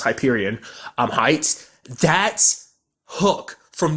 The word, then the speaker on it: Hyperion: I think it's Hyperion I think in the first episode I refer to it as I fear Union but I think it's pronounced Hyperion I'm Heights that hook